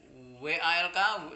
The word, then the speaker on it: walk: bacanya bukan kemudian Jalan w a l k w a LQ bacanya W ya bacanya walk Nah kalau sedang itu